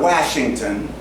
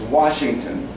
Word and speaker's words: Washington: Washington, it's a schwa A. Wash, it's not Washington, it's Washington. Okay, you get the picture.